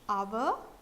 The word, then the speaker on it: hour: a word like our time so when it's our H is silent and the the word starts with H